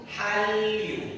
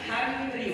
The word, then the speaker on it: Hallyu: Gabung. Hallyu. Bukan Hanryu. Kenapa?